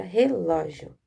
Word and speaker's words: relógio: Tá vendo, ó? A sílaba mais forte é a sílaba ló.